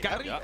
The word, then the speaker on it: Carrillo: I gotta say, I appreciate the pronunciation. Carrillo. Hey, Carrillo. A roll that R pretty well.